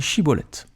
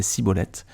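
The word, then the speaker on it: Schibboleth: non il disait alors alors dit shibolette et il disait sibolette car il ne pouvait pas bien prononcer sur quoi les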